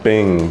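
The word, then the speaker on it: 病: It's pronounced Bing, B-I-N-G.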